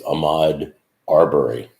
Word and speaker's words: Ahmaud Arbery: I don't know if you're living in Iraq, but basically, for those of you who don't know who, it's Ahmaud Arbery. I want to make sure I pronounce his name right.